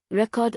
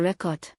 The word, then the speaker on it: record: When talking about capturing something on video, r e c o r d, verb, stress on cord.